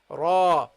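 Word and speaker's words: راء: when you talk about when we are talking about the name of the letter then we pronounce it heavily we say ra then we got the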